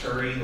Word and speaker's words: Turi: It's pronounced Turi, like I'm kind of furry, in a hurry, don't worry. It's jury.